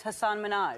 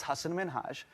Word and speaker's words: Hasan Minhaj: says your name says hassan minaj yeah but the real way you pronounce it and this is a big deal because my parents are here it's hassan minhaj and people always mispronounce it they're always like haseem